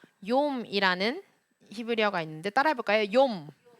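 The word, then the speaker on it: יום: 그리고 예슈와 뭐 예후다 이렇게 모음이 야, 요, 예 이렇게 발음되어지는 건 다 요드고요. 한 가지 더 말씀드리면 욤이라는 히브리어가 있는데 따라해 볼까요? 욤. 한 번 더 욤.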